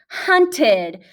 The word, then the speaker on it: hunted: Hunt, hunted. What does ed sound like at the end of hunted? It sounds like d. It sounds like a short I and a D.